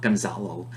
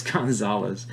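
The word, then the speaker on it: González: of a rubbing there it's not Gonzalo it's Gonzales I think it's just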